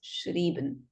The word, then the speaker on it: schrieben: So if it's EI, you pronounce the word as schreiben, but if it's IE, then it's schrieben.